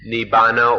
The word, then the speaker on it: Nibbana: thing the supreme thing is Nibbana or the sanskrit pronunciation is nirvana so everything we've said